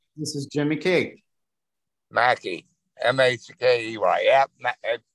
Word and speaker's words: Mackey: M-A-C-K-E-Y. Yep. We pronounce it Mackey where I'm at.